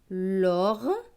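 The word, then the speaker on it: lorgnon: Le mot suivant, L avec OR. OR, c'est or. L et or, l'or. GN, GN, c'est gne. Avec ON, ON, c'est on. Donc gne et on, gnon. Donc ce mot va se lire l'orgnon, l'orgnon.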